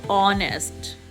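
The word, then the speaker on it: honest: ए pronunciation की हैगी एच is silent always it इज ऑनेस्ट ऑनेस्ट तो ओ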